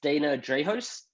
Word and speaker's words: Dana Drahos: host of the creators in saigon podcast it's dana drejos did i pronounce that correctly dana yeah you got it